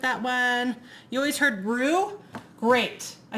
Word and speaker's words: roux: You always heard roux? Great. I said it wrong. Roux. I don't know. I always said, great, I did say it wrong. I always said it roux because it's spelled like bow.